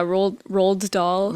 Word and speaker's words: Roald Dahl: How do you pronounce it? Yeah, rolled doll, Yeah.